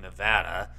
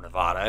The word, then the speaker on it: Nevada: UFOs which again cores from Nevada or Nevada it depends on how you pronounce it I go either or that's why I've said both concept comes from a farm